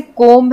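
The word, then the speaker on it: comb: तो जैसे कोम्ब है, कोम्ब में बी साइलेंट है, हम इसे पढ़ते हैं कोम्ब, हम इसे कोम्ब नहीं बोलते हैं।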